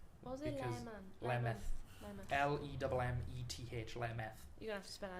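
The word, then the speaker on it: Lemmeth: Lemeth. L-E-M-M-E-T-H. Lemeth. You're gonna have to spell that again for me, back.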